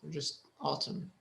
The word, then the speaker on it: autumn: And the N is silent, just autumn.